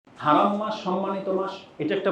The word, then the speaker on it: হারাম: বলতে আপনি কি বুঝেন আমাদের বাঙালি ভাষায় আবার হারাম বলতে শুধু হারামটাকেই বুঝে হারাম মানে যে পবিত্র